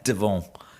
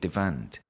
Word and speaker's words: Devant: And I think they pronounce it David Devant. Uh but it's only because I I'm good at French that I can't stop myself saying David Devon. Right. But I think you should say David Devant. And that is how he would have pronounced it.